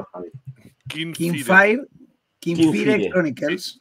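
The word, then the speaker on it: Kinfire: Kingfire. Kingfire Chronicles. No es Rey, es Kim de Kim Basinger. Skin de Skin.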